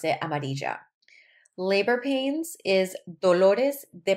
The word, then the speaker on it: amarilla: Now, in Colombia, two L's make the J sound, J. A lot of times Puerto Ricans will say like amarilla, but we pronounce it amarilla.